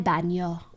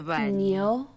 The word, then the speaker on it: baño: The way I try to pronounce these N's, I don't know how to explain it, but I try to pronounce like there's a squiggly in my voice. El baño.